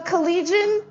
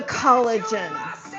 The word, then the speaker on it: collegian: And by the way, collegian, the collegian is not pronounced the collagen.